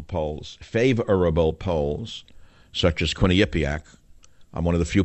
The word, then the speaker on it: Quinnipiac: plummeting even favorable polls favorable polls such as Quinny Yak I'm one of the few people in the world who can pronounce it why they still call it Quinnipiac